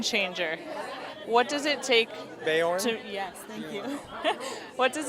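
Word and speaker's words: Beorn: he's a skin changer what does it take bayonne yes thank you what does it take to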